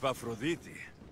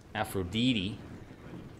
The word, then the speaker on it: Aphrodite: is real beauty aphrodite i mean those are probably the ways it's supposed to be pronounced because this game is pretty you know has a lot of historical accuracy but when you grow up learning the names like leonidas and aphrodite and then it's pronounced different it's so weird all right let's see